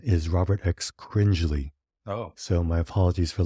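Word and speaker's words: Robert X. Cringely: behind the film I referred to him as Robert X cringley but the correct pronunciation is Robert X cringley oh so my apologies for that one I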